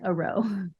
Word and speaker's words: Arrow: Commander a roe hey I think it's spelled like Arrow but you say it like a row what people um um